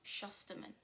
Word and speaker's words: Shusterman: time currently i'm reading the toll by neil shusterman that's how you say it this is the